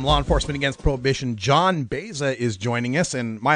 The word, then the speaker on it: Baeza: for you from Law Enforcement Against Prohibition John Baeza is joining us and my apologies if I've mispronounced your name John no you pronounce it